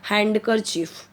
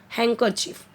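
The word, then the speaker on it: handkerchief: जैसे अब यहां पे आप बोलोगे हैंड करर चीफ रंग होगा हैंकर चीफ बोलते ना हैकी हैकर चीफ यहां पे डी साइलेंट करके बोलिए हैकर चीफ okay हैंकर चीफ अब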